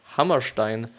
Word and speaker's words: Hammerstein: fro from Rodgers and Hammerstein or Hammerstein actually or Hammerstein if it would be pronounced in German that enjoyed nearly instant